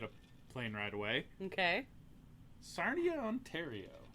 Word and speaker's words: Sarnia: It rhymes with Narnia.